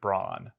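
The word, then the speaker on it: Brann: Mastodon who I mean he spells it that way but it's he pronounces it Brawn so maybe he's short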